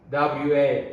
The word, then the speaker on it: は: Here is WA. 私は again 母が my mother 大好きです love I love my mother 私は母が大好きです私は母が大好きです It's whole same story, right? This は is the grammar particle. That's why we pronounce は wa は母が大好きです母 Here is the noun, right?